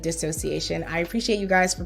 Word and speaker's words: dissociation: pointed out that I was saying disassociation instead of dissociation I appreciate you guys